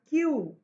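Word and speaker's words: queue: See, it has five letters. Q U E U E. And it sounds as if it has only one. We pronounce this word as Q.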